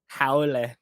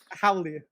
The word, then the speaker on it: haole: no, no, he actually yeah, not like Hawaiian proper "haole," but, Howle. like "howly." Yeah, so How he the howle. way most people say it in proper pronunciation, but Howle. not like the awkward, like, "Mahalo."